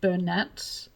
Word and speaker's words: Bernat: some people pronounce it Bernat I being Australian pronounce it Bernay Bernat it's spelled Bernat